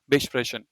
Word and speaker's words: besprechen: And when a prefix is not separable, you don't emphasize it. So this is pronounced as weiterleiten, but this is not besprechen. It's just besprechen.